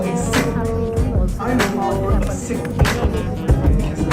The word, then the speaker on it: Sikh: Some people pronounce it Sikh, but the actual pronunciation is Sikh.